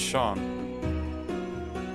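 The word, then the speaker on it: Seam: free not yourself the names seen pronounced Shawn all right and this is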